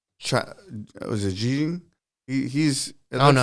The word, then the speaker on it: Xi Jinping: Okay, so it looks like was it Xi Jinping? I don't know how to say his name. Xi Jinping. Xi Jinping. How? Xi Jinping. Xi Jinping.